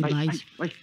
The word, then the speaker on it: Valls: A ver, tío, yo digo Valls, y es como Arturo Valls. No, mira, no, te lo enseño a decir. Tienes que pronunciarlo con I, Valls, y entonces quedas bien.